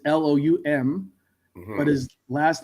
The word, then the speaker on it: Loum: His first name is Loom, I would assume. It's Loum.